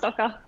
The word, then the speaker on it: Stokke: Yeah, it's pronounced Stokke.